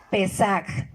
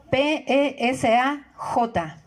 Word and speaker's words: Pesaj: La palabra la Pascua viene del hebreo Pesaj, P-E-S-A-J, Pesaj.